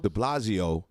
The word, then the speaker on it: de Blasio: That Mayor how you pronounce his name? Blasio. De Blasio, who's out the door, he's leaving.